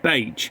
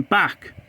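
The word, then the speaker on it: Bache: pronounce a station name it is be rather than back the station in the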